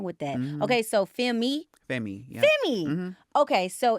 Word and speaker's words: FEMMÉ: Femi. FEMMÉ. Yeah. Okay, FEMMÉ. FEMMÉ. Yeah. We don't know how to pronounce that.